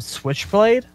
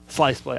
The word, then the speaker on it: Sliceblade: did you call him Switchblade? Sliceblade. I did say Switchblade. I was like, damn, have I been reading this guy's name wrong the entire time?